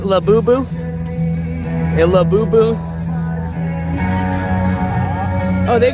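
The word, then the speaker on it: Labubu: From all the freaking festivals and shows I've covered and seen those things everywhere, I finally learned how to say them correctly, I think. Right? La Boo Boo?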